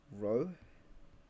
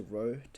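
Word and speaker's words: rho: / volume so we call this um letter row or we just call it density right but that's how you pronounce it row so density is equal to mass of volume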